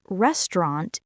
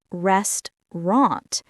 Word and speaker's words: restaurant: how do we usually pronounce restaurant in natural English? We say restaurant, not restaurant.